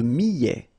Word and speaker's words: millet: Le millet, here, I, and then double L, so I, I, millet, E-T at the end, open, millet.